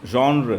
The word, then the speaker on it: genre: different literary genres uh this genre is a french word and that's why it's pronounced like that and it means a